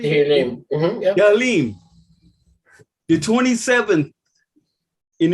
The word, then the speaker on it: Tehillim: Tehillim.